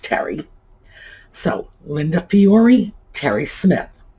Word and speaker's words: Teri: And Teri Smith is T-E-R-I, by the way. So I'm assuming that is pronounced Terry.